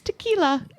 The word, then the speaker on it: tequila: I did notice though she knows how to pronounce tequila she does although should not be pronounced no because it's only one L is it yeah okay